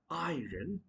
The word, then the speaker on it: iron: That's not iron. Rather, that's going to be iron. Okay? Iron, not iron. It's going to be iron. R would be silent.